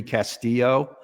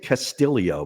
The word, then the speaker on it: Castillo: Brooks, Ricky Castillo had a great week. They say it Castillo, but it looks like Castillo, the way it's spelled.